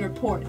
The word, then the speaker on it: rapport: Number six is the best body language for building rapport. Your words should be positive. Rapport. Can you tell I learned that from reading? The T is silent.